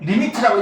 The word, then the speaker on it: lim: LIM 리미트라고 읽으면 돼.